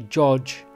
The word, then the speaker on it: Gog: of those ancient languages hence why when we look at the word Gog and Magog or Gog Magog which I'll be going into in a bit is actually the wrong pronunciation it's actually George and may George going into the relevance